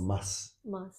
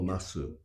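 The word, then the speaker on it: ます: Japanese I mean people in Tokyo unpronounce this is the proper way of Japanese this or mas yeah this is what I was usually hearing now if you go to Osaka or tushu they pronounce pronounce des ah or masu tab masu I'm not saying that is wrong but it's it's considered being the uh unpronouncing this u or e is being the uh standard Japanese and that's what you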